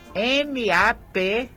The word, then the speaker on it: MAP-Fire: Então, olha, eu quero dizer que a palavra para vocês encontrarem mais informações sobre esse projeto é MAPFIRE. É porque a gente pronuncia em inglês MapFire, tá bom?